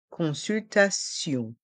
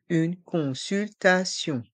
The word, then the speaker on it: consultation: lettres i o n consultation le T est entre deux voyelles ici le a et le i donc il se prononce ce une consultation une consultation le stéthoscope